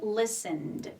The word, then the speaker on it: listened: She listened. So, the T here is silent, okay? Listened. Carefully, she heard a strange noise, okay?